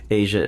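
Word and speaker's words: Aja: the uh from the Asia album Asia by the way is spelled for listeners AJ a haven't got to the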